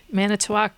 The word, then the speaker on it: Manitowoc: Manitowoc, Wisconsin.